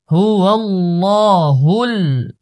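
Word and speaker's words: هُوَ اللَّهُ: হা লাম পেশ হুল, হুয়াল্লাহুল, প্রথম লাম মোটা, তারপরের লাম পাতলা, হুয়াল্লাহুল, হুয়াল্লাহুল, খ, খ আলিফ জবর খ, লাম জের লি খালি কফ লাম পেশ কুল খালিকুল হুয়াল্লাহুল খালিকুল বা বা আলিফ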